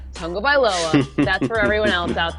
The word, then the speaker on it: Tagovailoa: This is how you pronounce Tagovailoa. Yes. Tung-o-vai-loa. Tagovailoa.